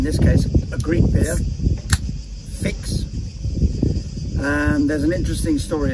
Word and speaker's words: Fix: they see a u a u in greek is pronounced like an i and the chs is pronounced like an x so it became fix f i x and